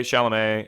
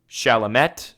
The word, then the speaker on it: Chalamet: So, and then you know who Timothée Chalamet is.